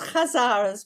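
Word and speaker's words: Khazar: read it as well now I know it's pronounced kazaras with a KH Kaz more or less yeah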